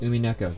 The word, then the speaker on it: Umineko: That's right, it's pronounced Umineko.